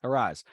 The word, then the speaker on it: Arraez: and then you got this kid for Florida, Arias, I can't remember his name exactly how to say his name, who's creeping up on 400, right? He's hitting 489, I think, Luis right Arraez, now. Yeah. Arraez.